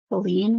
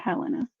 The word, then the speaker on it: Helene: Helene rhymes with queen. Perfect. Helene, not Helena. Helene.